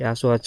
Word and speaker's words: Asu: Sebut saja Candi Asu, pengucapan yang lain terdengar salah.